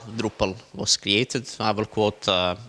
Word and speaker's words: Drupal: And later, when he was naming his software, then he back-translated drop into Dutch, so he got Drupal, which phonetically sounded as Drupal.